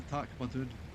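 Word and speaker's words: Tak-ma-doon: It was in Kilsyth, or just north of Kilsyth, heading up towards Carn Dam, and it was called the Tacmadoon. And yes, it is spelled exactly how you say it.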